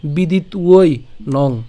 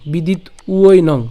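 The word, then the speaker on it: বিদিত্বৈনং: সাথে কি আছে একটা ঐকার আছে তাহলে এটার উচ্চারণ কেমন হবে ঐ উই ঠিক আছে বিদিত উই বিদিত উই নং বিদিত উই নং বিদিত উই নং ঐ কেন এই যে ঐকার ছিল সেজন্য আর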